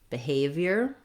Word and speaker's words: behavior: Secondly, the letters BE say an I or an vowel in this word because it's a reduced first unstressed syllable. The stress and the length, the clear vowel is on the A in the second syllable.